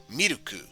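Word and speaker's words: ミルク: Which is interesting because, while I'm sure this is pretty much the traditional way to say milk, gyunyu, some people might pronounce it in katakana, miruku. So, take it for what you will. Either miruku or gyunyu.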